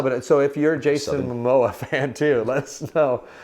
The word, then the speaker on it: Momoa: Jason Momoa?